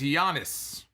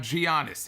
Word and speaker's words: Giannis: other okay so i i've been corrected it is giannis it is not giannios it is yonder see